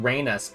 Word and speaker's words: Rena: a total mystery to us that's why it's pronounced Raina but spell Reena it's cuz they trusted a